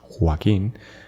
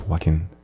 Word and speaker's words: Joaquin: For example, Joaquin, only the pronunciation in Spanish is Joaquin, and English is Joaquin.